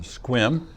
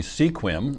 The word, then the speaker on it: Sequim: It's it looks like it should be Sequim, and we had a showing this last week that they hadn't discovered that yet. So it's pronounced Sequim, kind of. Forget the E. Yeah, scrunched together.